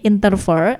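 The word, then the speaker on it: interfere: Selanjutnya ada juga Valia menu nambahkan interfer penulisannya I n t e r vere gitu ya dibacanya interfer artinya mengganggu gitu.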